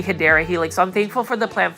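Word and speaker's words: Hedera helix: to stick with it I was actually saying it the wrong way by saying um hedra Helix it's actually hyera Helix I'm thankful for the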